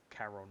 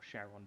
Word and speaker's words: Charon: they paid tribute to Charon or Sharon, depending on how you pronounce it, to ferry them across River Styx.